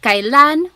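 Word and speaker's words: kailan: Then the word kan when you might hear some people say sounds like an e, but it's technically spelled with an ai.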